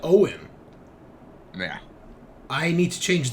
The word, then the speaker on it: Oin: Yes, it's Irish. It's just Irish. Oh, okay. I've never, and they pronounce that Owen.